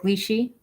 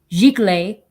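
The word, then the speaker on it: giclée: They're Glichy. See, now I'm saying it wrong. Gicle edition of 85 for each of them.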